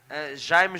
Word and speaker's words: Jaime: You can see Tristan Roberts from South Africa in the red singlet, and I call him Jamie Jesus, but how do you say it properly? Jaime Jesus.